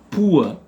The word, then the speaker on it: poor: Ici, quelqu'un qui est pauvre, on dit poor, donc on prononce avec la diphtongue ou a, poor.